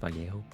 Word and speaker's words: Vallejo: It's spelled Vallejo, but it's apparently pronounced Vallejo, because it's Spanish.